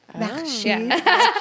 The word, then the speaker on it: Mashid: Mashed Mashid.